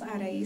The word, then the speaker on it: Arai: spelled music i always spell that because some people can't really pronounce arai some you know they go but it's all right yeah